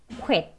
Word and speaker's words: quit: 첫 번째 단어는 quit, 그만두다 라는 뜻의 단어입니다. 발음 기호, 그죠? 코 하고 들어갔고 at, 여기 트 소리는 stop t로 멈추는 발음으로 그냥 quit 하겠습니다.